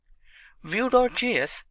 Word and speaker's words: Vue: Vue.js is commonly referred to as Vue and pronounced as Vue.js or Vue is rightly so.